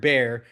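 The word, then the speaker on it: Bexar: have been filing in Bear County, which again, somebody wanted to call it Bear County, but they were hardcore Mexican American, and they, you know, it it's pronounced wrong. They put an X in there, and that's where that comes from.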